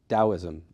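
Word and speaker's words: Daoism: was still being pronounced dosm in China right and and so spelling it with a d is a more accurate uh capture of the pronunciation and so the more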